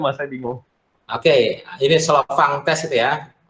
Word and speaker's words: Slovin: Oke, ini Slovang test itu ya. Bacanya Slovang, tulisannya SLOVIN gitu. Tapi Slovang, dia orang Skandinavia ya.